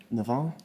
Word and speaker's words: Navarre: are named after that as well how you pronounce that Nar Nar do you want to just go nominate chaffy